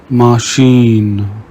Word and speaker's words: machine: CH is pronounced like sh in the English word she.